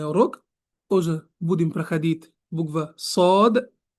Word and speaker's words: ص: И вот сегодняшний урок уже будем проходить буква сод, дод, сод, дод. И будем узнать, как они произносятся, как они читаются и как они пишутся, иншаллах.